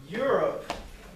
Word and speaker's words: Europe: So Europe, the E is silent. We've got you. It sounds like more like a Y. Europe.